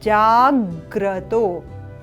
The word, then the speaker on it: जाग्रत: यहां ध्यान देंगे विशेषतः कि ये जो ग है इसको संयोजित करते हुए इस जा के साथ तब हम उच्चारण करेंगे जज जाग्रत आधा ग व्यंजन ग को उच्चारण करना है साथ में जज जाग्रत